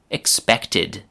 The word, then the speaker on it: expected: 2, expect, expected.